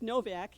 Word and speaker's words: Nowak: about mike nowak mike novak it's spelled with a w but pronounced v oh okay thanks he